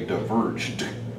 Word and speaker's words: diverged: And also, you forgot to pronounce the final D at the end of a simple past. Like two roads diverge, there needed to be a D sound. They diverged. And this kind of a